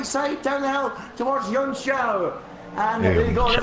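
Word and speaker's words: Junção: Side by side down the hill towards Yunxiao. And there you go, there's a proper pronunciation for you.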